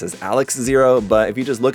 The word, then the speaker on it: XARX-ZERO: it as Alex, but it also sounds exactly like just the Japanese pronunciation of RX.